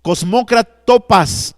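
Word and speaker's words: κοσμοκράτορας: En griego se pronuncia prostous, cosmócratopas, tou, skotous, tou.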